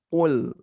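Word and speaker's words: قُل: Ada yang membaca kul dan qul. Nah, perbedaannya kalau kul dengan qaf itu maknanya katakanlah, kalau dengan kaf kul itu makanlah.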